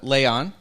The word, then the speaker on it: Layon: of our other panelist uh uh representative uh Leon I pronounced that right yes did who uh I'll